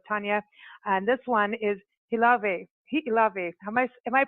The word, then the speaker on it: Hi'ilawe: And this one is Hi'ilawe. Am I pronouncing that correctly, Tanya? Hi'ilawe? Oh, most definitely. I would know, especially. Yeah. Hi'ilawe.